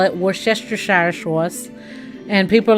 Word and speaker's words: Worcestershire: And so it's W-O-R, Cester, C-E-S-T-E-R, Shire, S-H-I-R-E, Worcestershire. So just in case you want to know, it is. And so now I call it Worcestershire sauce.